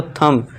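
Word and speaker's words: thumb: थंब ना कि थंब। ठीक है दोस्तों? थंब। यहां पे बी साइलेंट हो जाएगा।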